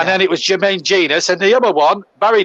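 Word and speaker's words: Jenas: remember, one was Jermaine Genius. A lot of people, when he broke into that Forest team at 17, used to say Genus. Yeah. And then it was Jermaine Genius.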